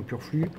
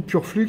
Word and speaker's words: Purflux: un boss j'aurais mis un Purflux ou Purflux suivant votre prononciation et où vous habitéah